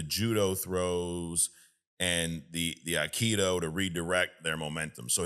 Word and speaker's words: aikido: Um, he also is a master of judo and iikido. I probably Aikido. Aikido.